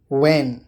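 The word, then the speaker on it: when: एच, जब एच से पहले डब्ल्यू आता है तो एच कभी कभी साइलेंट होता है। एग्जाम्पल देखिए, व्हेन मतलब कब, वाई मतलब क्यों, वेयर।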